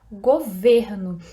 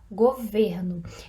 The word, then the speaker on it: governo: imagem a palavra é governo aqui a gente tem um som na segunda sílaba mais fechado governo e na segunda o som é mais aberto na segunda sílaba o governo depois além do som ser